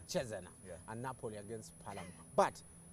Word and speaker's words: Cesena: That's how you pronounce it, Cesena. Cesena.